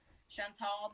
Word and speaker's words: Chantal: So Chantal the doll, the tall rhyme with doll, and that's what I went with.